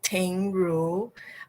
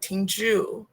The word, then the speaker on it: Ting Ru: So, for example, my name is Ting Ru, but when it's written down in the, actually, how can I explain this? In English, on my passport, it says Tingju. So if you don't know how to pronounce that, it will sound like Tingju, which is not really my name.